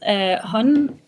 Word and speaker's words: HUN: You can say both as you did. HUN is the English pronunciation, but it also refers to hunter. Mm-hmm. And the other pronunciation you did, which is HUN, is actually the female pronoun in Danish. It means she in Danish. So whichever way you want to pronounce it, it's okay.